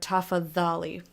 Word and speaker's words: tafadhali: As you can see over there, DH is pronounced with like a th sound. As in thy or then or them. You get it. So, for example, the word think is dhani. Or as I like to use the word tafadhali, which is please. It has a DH in the middle. You pronounce the DH as a the sound.